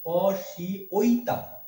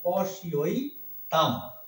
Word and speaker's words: পশ্যৈতাং: পশি ঐতাম, পশি ঐতাম। এই যে ঐকার, এই জফলা ইয় হয়, ইয় সমান ই অ, রস্যিকার শয় এই রস্যিটা, আর ওই সমান সমান ওই, পশি ওই তাম, অনেশ্বরে ম হবে, পশি ওই তাম।